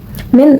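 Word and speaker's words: مِنْ: Dibaca min karena hukum tajwidnya izar khalqki karena ada nun mati bertemu dengan hamzah dan dibaca dengan jelas seperti ini. Min.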